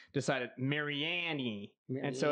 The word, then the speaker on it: Mariani: i say it wrong if you're an authentic italian mariani is how you're supposed to say it and when we were